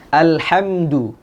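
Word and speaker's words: الحمد: Alhamdu. Sering terjadi kesalahan di sini ketika pengucapan al ya pada lam yang sukun itu tidak menyempurnakan sifat dari lam sehingga yang terjadi pantulan.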